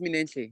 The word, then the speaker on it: Minenhle: No, it's correct. It's Minenhle, yeah.